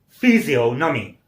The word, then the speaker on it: physiognomy: Next word is a P-H-Y-S-I-O-G-N-O-M-Y. Physiognomy. Physiognomy. Repeat. Try to pronounce it correctly with me and say physiognomy. Stress is on O. So it's a physiognomy.